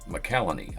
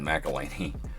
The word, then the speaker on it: Holt McCallany: McCallany. I've been saying his name wrong this whole time, apparently. I've been saying McElhaney.